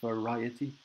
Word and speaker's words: variety: So of course in Spanish you need to be careful with the pronunciation with the V in English. So in English it's variety, because sometimes the V and the B in the sound are very, very similar from Spanish to English.